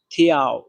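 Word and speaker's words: 条: তারপর শব্দটা হচ্ছে থিয়াও, থিয়াও। এটাতে চাইনিজের 2 নাম্বার টোন ব্যবহার করা হয়েছে। আর 2 নাম্বার টোন উচ্চারণ নিয়ম হচ্ছে নিচ থেকে উপরে। তাহলে দেখেন থিয়াও, থিয়াও, ডাইরেক্ট উপরে।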